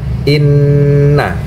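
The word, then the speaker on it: إِنَّ: Karena nun bertasydid, jadi bacanya adalah inna. Ditekan sampai 2 ketukan.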